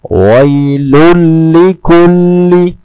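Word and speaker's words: وَيْلٌ لِكُلِّ: Cara membacanya adalah tanpa bersenandung dan dengan menghilangkan bunyi 'nun' dalam tanwin. Wailun langsung menuju ke 'lam'. Wailul likulli.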